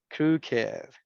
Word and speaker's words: crooked: Yes, en este caso lo vamos a pronunciar con esto, con it, aged, blessed, crooked, naked, wicked, and wretched. Con esto, con ed.